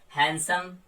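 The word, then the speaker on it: handsome: हैंडसम, आप डी को silent करते हैं।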